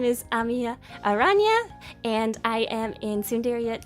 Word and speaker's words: Amiya Aranha: But please note the nya at the end of my name. It's not Aranha, it is Aranha. The nya sound is very important because it sounds like a kitty. It sounds like a kitty, and I love cats, and yeah, it's just a cute sound. You need to say nya in my name.